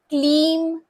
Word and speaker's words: क्लीम: मेरे मंत्र के उच्चारण पर ध्यान दीजिएगा। ओम क्लीम कृष्णाय नमः। क्लीम पर जोर देना है।